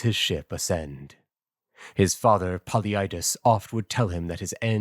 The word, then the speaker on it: Polyidus: All right, the Greek would be Boliuidos. I guess I would render that into English as Polyidus. Paluido. Yeah, you wouldn't put the emphasis on the U.